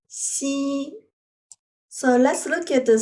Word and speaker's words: 夕: hand which means infinite so it pronounce as C once again C so let's look at